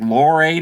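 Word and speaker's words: Lohrei: It looks like Lowry to me, but hey, Lowry, I'll say Lowry because that's how they pronounced it.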